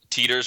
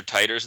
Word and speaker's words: Titor: Phonetically, I think it would be John Titter, but uh I've always heard John Teter. Occasionally, you hear John Titer, but I think it's just a matter of preference really.